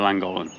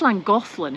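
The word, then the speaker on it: Llangollen: it I think it's Lang golin isn't it well it's Welsh so you say it as if you got cold and the Ponto silic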